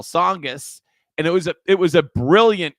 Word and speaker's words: Tsongas: might not remember this, but Paul Tsongas it was very difficult to pronounce when he was running from county commissioner to U.S. Senate. So he did this famous commercial, and he had one person after another mispronouncing his name. And then at the end, he came in and said, no, it's Paul Tsongas.